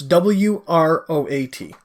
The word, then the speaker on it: Wroat: Now that's Wroat. Okay. Because nothing is spelled the way it sounds in this, right?